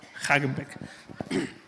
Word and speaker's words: Haghenbeck: Es como el helado. A ti que tú quieres el Häagen-Dazs, pero con el Beck. Hagenbeck.